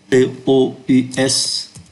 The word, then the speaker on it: tous: Tous les jours không phát âm S.